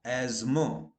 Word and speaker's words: asthma: Remember, but here not only T, H is also silent. So in India, we wrongly say, my mother suffered from asthma. Absolutely wrong. My mother suffers from asthma. Okay, both T and H is silent. Okay. Both T and H are silent except occasionally US.